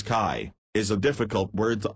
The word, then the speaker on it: qi: The qi, pronounced as kai, is a difficult word to understand and is usually left as it is, without translation.